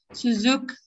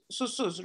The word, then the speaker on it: Susuz: Suzuk. Ah, Susuz, right? Susuz, yes, yeah. Yeah, Susuz, yes, yes, okay. No worries, it's just Turkish pronunciation is slightly different.